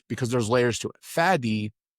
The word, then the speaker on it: Fady: Fady in Arabic, it's two syllables. Fadi. It's a clear D, not a T. It's a D at the end. Fadi. It's a beautiful name.